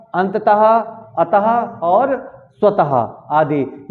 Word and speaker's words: अंततः: अंततः। अंततः। देखिए इसको अंततः नहीं कहेंगे, अंततः। अंततः नहीं कहेंगे, लास्ट में ता नहीं निकालेंगे, इसको क्या निकालेंगे? हाँ, अंततः।